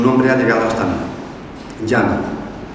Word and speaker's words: Gianna: Diana, pronunciando la G de forma suave, librándola de esa aspereza que el castellano posee, paseando con las manos